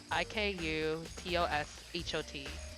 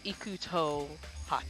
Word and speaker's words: IKUTOSHOT: Like my personal email is IKUTOSHOT, and and each and every time somebody tries to pronounce it, they say Ikuto hot. Just Ikuto shot.